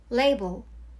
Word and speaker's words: label: 한국어로는 라벨이라고 표현하기도 하는데 원래 발음은 label이랍니다. label, top, a top, two